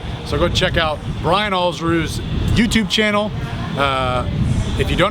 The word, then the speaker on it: Alsruhe: So go check out Brian Alsruhe's YouTube channel. If you don't know how to pronounce his last name, it's Alls like balls, and then Rue like kangaroo. So I think balls, kangaroo, Alsruhe.